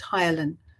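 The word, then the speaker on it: ptyalin: your mouth is called the Tylen spelled with a p just to confuse you p t y l i n and you secrete that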